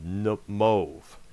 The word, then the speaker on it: Moev: And we also cannot forget Network Records, which was started by one of the bands called Mauve, which is spelled Moev.